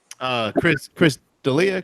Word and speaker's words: Chris D'Elia: Chris D'Elia, Chris, is that how you pronounce Yeah.